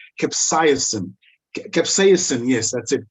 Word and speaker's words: capsaicin: a specific ingredient that let me try and pronounce it correctly i think it's called capsaicin capsaicin yes that's it capsaicin capsaicin is the active ingredient in cayenne peppers